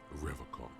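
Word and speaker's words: Revachol: pile of soggy logs at his feet he pronounces rivercon with a hard k unlike other people you said uh revacal i like to pronounce it the hard way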